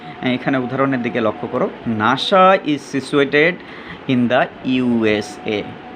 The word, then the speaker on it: NASA: এখানে উদাহরণের দিকে লক্ষ্য করো, নাসা is situated in দ্য ইউএসএ। এখানে দেখো যে N.A.S .A না লিখে আমরা কিন্তু ডটগুলো উঠিয়ে দিয়েছি এবং নাসা এটি কিন্তু NASA এভাবে পড়ছি না, পড়ছি কি নাসা।